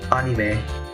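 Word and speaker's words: アニメ: The word anime, which in Japanese is pronounced anime, oops, is written in katakana as well, because the word anime in Japanese comes from the word animation.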